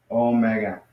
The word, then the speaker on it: Omega: is Oh and then it's got the word for big you know or large which is mega Omega so that's how you pronounce it so this is how